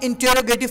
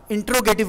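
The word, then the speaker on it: interrogative: मतलब होता है, अच्छा इस लफ्ज़ को प्रोनाउंस गलत करते हैं अक्सर अफराद, इंटरोगेटिव बोलते हैं, ये इंटरोगेटिव नहीं होता बल्कि इंटेरोगेटिव होता है, ठीक है।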